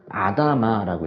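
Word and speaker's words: אדמה: 근데 이 흙이라는 것을 그 히브리어로 뭐라고 읽냐면요, 아다마라고 읽어요.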